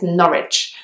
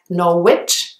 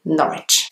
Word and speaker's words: Norwich: the next place is another one which has a W which is not pronounced it's Norwich it does have a W there so it looks like Norwich but actually you just say Norwich the next one is